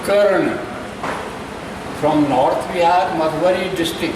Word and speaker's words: कर्ण: Function तो कहा कि प्रोफेसर करना कहिए हम KRNA लिखी छी तो हमरा नॉर्थ ईस्ट में करना कही हम कहे don't pronounce like this I एम कर्ण from North Bihar, Madhubani district.